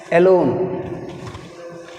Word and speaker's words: alone: Lone is second syllable. So alone word a is a weak prefix.